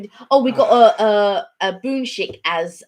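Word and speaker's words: 분식: Oh, we got a boonshik as because we were calling it bunsick, and then Gloria corrected me via email and said, oh, it's sort of pronounced like boonshik.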